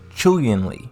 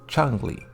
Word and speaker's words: Chun-Li: mandarin for spring beauty it's properly romancized as chun li in pinyon and pronounce chewienly despite westerners commonly pronouncing it as chungly when talking about chungli